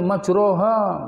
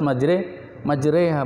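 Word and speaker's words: مجراها: Bismillahi majroha wa mursaha. Oh, berarti tidak hafal Quran ini. Tidak pernah ngaji Quran, repot kan? Padahal bacanya harus majreha bukan majroha.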